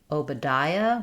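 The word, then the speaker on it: Obadiah: Oadia. We stress on the d syllable. And so our letter A says awah. Uh letter O does stay the O sound. Oia.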